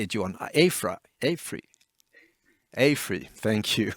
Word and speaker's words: AFRY: AFRY, thank you.